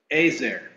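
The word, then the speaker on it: עֵזֶר: is the word hel and in Hebrew it's pronounced azer interestingly this Hebrew noun that we translate into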